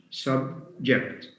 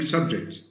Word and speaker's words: subject: subject has two syllables subject now we can have stress on the first syllable by saying subject we can shift stress